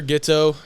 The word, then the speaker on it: Ghioto: It's just my name, Ghetto. Probably don't know how to spell it.